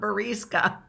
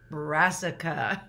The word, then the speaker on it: brassica: It's not barisca, it's brassica cabbage.